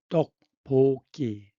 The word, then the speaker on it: 떡볶이: 프로un세이션 발음 받침 모음 받침이 뒤로 떡볶기 그런데 넌 bo이스트 넌 bo 뒤에 거블드 된 소리가 됩니다. 그래서이 발음은 떡볶이.이 떡은이 떡은 가래 떡입니다.이 떡은 가래떡입니다.